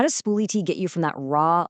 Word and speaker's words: SpooliT: your documents, and that brings us right to Spool-it. And by By that's pronounced Spool-It.